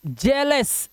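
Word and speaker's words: jealous: अब जैसे देखो इसे पढ़ेंगे, क्या पढ़ेंगे, जेलस, ए आ गया, हेल्थ, ए आ गया, हेवन,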